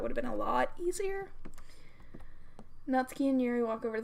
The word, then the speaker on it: Natsuki: of the room where Natsuki grabs a wrapped tray and Yuri opens the closet before anybody cracks me on the way I say nuts ki I'm technically saying it right cuz it's not Suki I'm just saying quickly